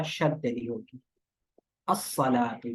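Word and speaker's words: الصلاة: जी अस्सलातु।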